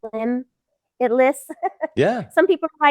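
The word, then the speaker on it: Limbitless: And limitless is spelled LIMB. Yeah. Yeah, so that way you can kind of get the, limb it lists.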